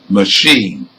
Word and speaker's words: machine: you hear one now where the stress is on the second syllable machine let's move on to